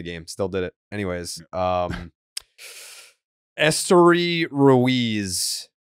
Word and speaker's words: Esteury: Anyways, Esteury Ruiz.